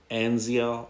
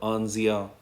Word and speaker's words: Anzia: So the second hero in the super elemental ice summon is Anzia or Anzia. Depends on how one pronounces it.